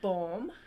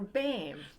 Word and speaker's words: Boehm: You have two choices. There's Boehm or Boehm.